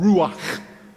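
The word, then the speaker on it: רוח: It's called ruach. Say it with me. Clear your throat. Ruach.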